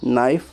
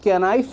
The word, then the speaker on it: knife: جسے چاقو بولتے ہیں۔ اب نائف کی سپیلنگ کیا ہے؟ KNIFE، KNIFE ہے نائف، لیکن ہم اس کو کینائف نہیں پڑھتے ہیں، ہم اس کو نائف پڑھتے ہیں۔ نائف کا کیا رہتا ہے؟ سائلنٹ رہتا ہے۔ اسی طرح ہم بولتے